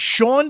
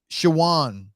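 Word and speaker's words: Shawon: That was the wait a minute, Sean Dotson? Shawan. Nah, you might have always Dotson. pronounced it Sean because, Okay, because that's how we do it.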